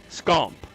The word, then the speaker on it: Scomp: And that's how it's pronounced. I don't care what anybody else wants to claim. That's how I was told it was pronounced, Scomp. That's the way my dad pronounced it.